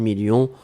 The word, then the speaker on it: millions: à la fin 2 millions on ne prononce pas le s mais il est là ensuite signature mais ici